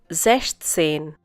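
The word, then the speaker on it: sechzehn: Once again, once again, zestain.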